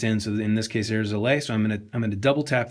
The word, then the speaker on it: Airs LA: also Enjoy let your Joe Airs LA Durkin know experience. that he should change that in the data page. Because VoiceOver is pronouncing it Airsla instead of Airs LA.